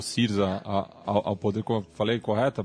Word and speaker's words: Syriza: Eu acho que a própria eleição ano passado, que levou o Syriza ao poder, falei correta a pronúncia? Syriza, isso.